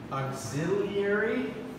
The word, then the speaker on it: auxiliary: If there's an auxiliary verb, it's the auxiliary verb. If there isn't, then the main verb, because something has to represent the past. Yeah? How do you pronounce house? Yeah, so it's spelled auxiliary, but we say auxiliary.